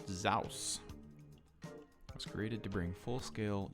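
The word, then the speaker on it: SSAWS: Perhaps spring, summer, autumn, winter, snow, pronounced Zaus.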